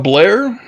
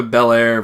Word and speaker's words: Belair: I know that it's Bel Air, and there is a pause between the bell and the air, but the commentators, no matter which one it is, keeps calling her Blanca Blair, Blanca Blair, Blanca Blair. It's like they're trying to make every syllable in her name one syllable.